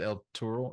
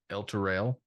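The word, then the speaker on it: Elturel: They don't call it El Turo. They call it El Turel.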